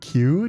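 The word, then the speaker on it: queue: Me when I see the word Q technically with four silent vowels.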